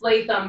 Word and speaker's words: Leatham: It's Leatham, but I get Leatham all the time, so I'm good with whatever.